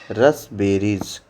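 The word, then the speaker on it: raspberries: तो क्या बोलते हैं रप पी साइलेंट हो जाता है रस बेरीज तो क्या हो जाएगा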